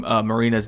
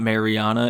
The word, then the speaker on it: Marina: I've been saying Marina's name wrong for literally every single time she's had a fight and I've said her name. It's not Mariana, it's Marina. So I'm sorry, Marina.